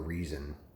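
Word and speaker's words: Rezin: together with his brother reason it's spelled like resin but it's pronounced reason trust me um anyway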